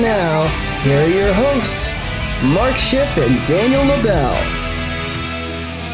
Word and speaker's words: Maz: I intentionally did not tell you my the pronunciation of my first name cuz I want to see how you do it. And you did Maz, but it's Ma.